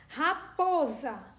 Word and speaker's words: raposa: Raposa, termina com a sílaba SA e o S também tem o som de Z.